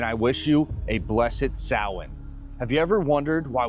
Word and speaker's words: Samhain: Now, it may look like it's pronounced Sam Hand, but it's really pronounced sin.